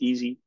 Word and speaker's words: EESSI: that a little bit so we can pronounce it as easy um it's really a